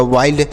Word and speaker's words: wild: Next है WILD, तो W से वाह, आई का उच्चारण आई लिखेंगे और यल से लो, डी से ड, तो यह हो गया वाइल्ड, WILD वाइल्ड।